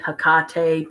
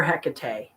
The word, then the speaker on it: Hecate: serious about working with Hecate. Hakate. People say her name different ways. I prefer Hecate. Um, but Hakate is just as pretty because she's Greek, it turns out.